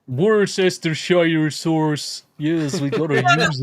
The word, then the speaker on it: Worcestershire: Worcester in Worcestershire. Worcestershire sauce.